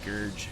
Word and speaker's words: Scourge: Yes, I know how they're pronounced. Scourge, but I like to call them scorggies.